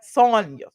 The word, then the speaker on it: Sanya: I always get her name wrong because I think about Tanya, but I know it's Sonya.